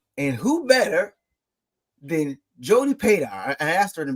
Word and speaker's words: Padar: who better than Jodie pedar I asked her in the beginning like how do you pronounce her your name and she said like radar I love that because